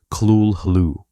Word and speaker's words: Cthulhu: Lovecraft claimed that the correct pronunciation of Cthulhu could not be rendered in human speech, offering instead approximations like Kulhu.